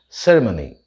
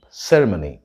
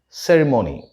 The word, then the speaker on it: ceremony: means a public or a religious event is ceremony that is the british pronunciation ceremony and the american pronunciation is ceremony ceremony the couple are planning a wedding ceremony